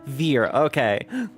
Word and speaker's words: Veer: I keep mispronouncing his name as Vere because there's a character in Elden Ring named Vere who is the opposite of fuckable, but for whatever reason, that's the name that's stuck in my head. Veer, okay. Rhymes with fear.